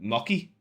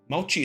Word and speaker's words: mochi: Mii instead you got mocky mochi mochi is how you pronounce it is a mochi mochi